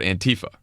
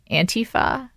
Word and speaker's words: Antifa: I think it's Antifa. Well, I don't think it's Antifa because it's anti-fascism. Okay. Antifa is the more natural way to pronounce it. But right. I agree with you, Ana, that Axios. Right. Right. Exactly. It's Antifa. Antifa is right, but it doesn't have like the typical cadence of English. So we struggle with it.